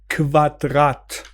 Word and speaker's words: Quadrat: کول کول عالی کله پس ترکیب کو و او صدای کو میده ک رو میگی و رو هم تلفظ میکنی جوری که قشنگ ریف بالا دند لب پایین بشینه کول مثل کودغت Quadrat Quadrat Quadrat quadrat qualitätت